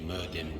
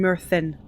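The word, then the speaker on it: Myrddin: They pronounced that wrong. Two D's together would have been th. That would have been Murthin.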